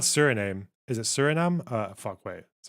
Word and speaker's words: Suriname: it serum or serum or serame it's not Suriname is it suram uh wait sorry hang on what's the uh pronunciation Surinam Surinam yeah okay uh okay I